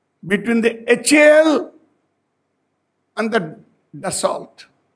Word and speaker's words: Dassault: the HAL and the Dassault. I'm using the Indian pronunciation, for it has become a popular. None of us knows French, nor do I. L and T are supposed to be silent in French.